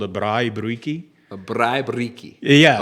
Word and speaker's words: braai: We call it a braai. A Braai. A braai. Braai. B-R. You roll your R's too.